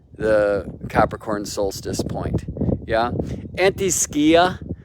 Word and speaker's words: antiscia: capricorn solstice point yeah anti-skia i'm told it's a better pronunciation because skia is greek for shadow now typically astrologers are